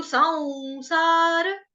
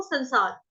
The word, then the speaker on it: संसार: जब स के ऊपर बिंदी हो, स के ऊपर अनुस्वार आ जाए, अगला जो वर्ण है वहां पे स श वगैरह हो, तो क्या हो जाएगा?